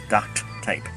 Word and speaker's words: duct tape: that go quack quack you fix up ducts as in dcts uh to hold that up there another word that I really hate that mispronounced a bit of duct tape duct tape takes a minute to say it properly or even less duct tape okay so yeah